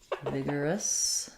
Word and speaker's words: vigorous: how to pronounce vigorous vigorous so we have first syllable stress in vigorous we have the E vowel um the letter G says the G sound Vigor even though we